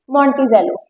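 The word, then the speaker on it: Monticello: वैसे सी लिखा है बट इसकी प्रोनाउंसिएशन इट कुड बी मॉन्टिजेलो।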